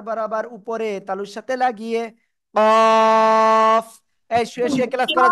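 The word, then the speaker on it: قاف: করেন এটার নাম হলো কফ কি কফ চার আলিফ টান জিহ্বার গোড়া তার বরাবর উপরে তালুর সাথে লাগিয়ে জিহ্বার গোড়া তার বরাবর উপরে তালুর সাথে লাগিয়ে কফ এরকম মোটা আওয়াজে কাফ জিহ্বার গোড়া তার বরাবর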